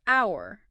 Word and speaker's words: hour: But then think of our starts with H, a consonant letter, but the H is silent.